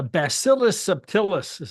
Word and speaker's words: Bacillus subtilis: There's a Bacillus subtilis. That's how you pronounce it.